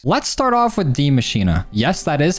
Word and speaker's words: Maschine: Let's start off with the Maschine.